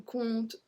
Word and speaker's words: compte: So all of them, if you see this start of the word, so C-O-M-P-T, no matter what's after, we don't pronounce the P.